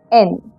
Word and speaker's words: yen: Even though it is written as yen, it is pronounced as en.